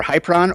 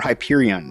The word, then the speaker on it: Hyperion: So, it's either Hyperron or Hyperion, and I think it actually is probably Hyperion if you were to do this phonetically, but I'm just not exactly sure.